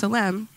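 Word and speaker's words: צלם: It is pronounced tselem.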